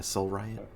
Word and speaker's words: Soul Riot: And now that it was spelled soul like coal, but with an S, and then riot.